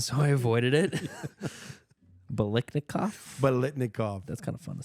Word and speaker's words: Biletnikoff: Biletnikoff.